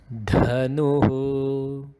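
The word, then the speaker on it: धनुः: Next example, dhanuhu, dha and not da. Next would be a combination of what we had seen previously.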